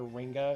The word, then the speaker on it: Ringa: I should probably put an H at the end of her name so I remember how it's pronounced. Instead of calling her Ringa, it's Ringa. Like a bell Ringa.